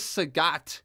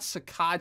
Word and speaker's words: Sagat: a very trustworthy source, it says Sagat, not Sakad, Sagat. Again, it's just English attempts to spell a Thai name, right?